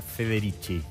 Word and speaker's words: Federici: Te puedo preguntar Federici, ¿no? Federici. Somos especialistas con Muñeski en equivocarnos los apellidos de nuestra Federici. La verdad es que se pronuncia Federici.